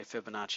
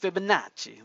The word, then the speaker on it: Fibonacci: face tof face classes you can't just say Fibonacci you got to go with Fibonacci like you're ordering good good Italian pizza I guess U it's